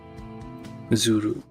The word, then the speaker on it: Zulu: Zuru. Zuru. It's Gira. That's what is how it's pronounced in Japanese. Gira Zuru. Uh Zulu, I guess.